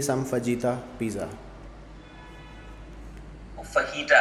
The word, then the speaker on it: fajita: लफ्ज़ है, ये मैक्सिकन लफ्ज है, तो वो जे को एच की तरह प्रोनाउंस करते हैं, गॉट इट। तो वो फहीटा कहते हैं। अच्छा, बाय द वे फजीता भी ये समझ गया, इंडियन एक्सेंट।